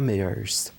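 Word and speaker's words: Méheust: Et je pense au dernier livre de Bertrand Meyers. Donc, ça s'écrit M-E accent aigu H-E-U-S-T, Bertrand Meyers.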